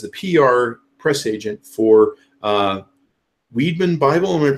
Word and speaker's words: Wiedmann: who works as the PR press agent for Weidman Bible we're pronouncing that right Lee that's correct hi okay